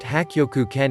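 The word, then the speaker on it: Hakkyoku-ken: This master taught Shinin Kodaka a Chinese style known as Baji Quan, pronounced Hakyoku Ken in Japanese.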